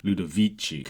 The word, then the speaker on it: Ludovici: the classical tradition as evidenced by the Soft C in the first word lud vichi and by his orchestral